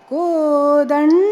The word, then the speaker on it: Kodanda: Kodald. If you listen very carefully, it's Ralga and Dalda that we hear. It has to be Ranga and Kodanda.